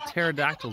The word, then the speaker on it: pterodactyls: one remember how much I loves silent letters what flock of pterodactyls is approaching go incidentally